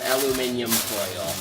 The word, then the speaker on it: aluminium: whole casserole here and lightly cover it with aluminium that's how limeys pronounce it exactly now they set